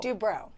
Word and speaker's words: Dubrow: Is it Dubrow or Dubrow? Dubrow. Dubrow. Yes. I said it right the first time.